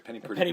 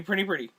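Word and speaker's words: Penny Priddy: Sorry, Penny Pretty. Penny Pretty. And it's spelled P-R-I-D-D-Y, by the way.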